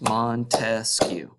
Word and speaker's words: Montesquieu: And an easy way to remember this one, 3 branches of government, just clap out the syllables that Montesquieu has. Montesquieu. All right, 3 syllables.